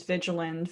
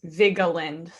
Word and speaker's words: Vigeland: my last name yet i get a variety of different ones vigilant vigeland but it's vigoland or uh my really